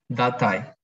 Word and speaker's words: Datei: Datei. Datei, Pero no hay muchos de esos. Lo que hay más es de este, el número 3. Los sustantivos acabados en ion tienen el acento en la última sílaba.